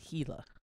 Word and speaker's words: Gila: It's spelled Gila, but it's Gila. H-E-E-L-A.